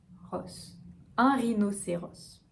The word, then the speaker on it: rhinocéros: Cette fois-ci, on va prononcer le S final. Rhino, Rhino. Rhino. Pour le R, toujours pareil, de la gorge, n'oubliez pas le placement de la langue. Rhinocéros. Un rhinocéros.